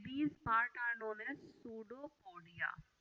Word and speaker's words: pseudopodia: Amoeba extend their these part around the food, and these part are known as pseudopodia. P is silent here.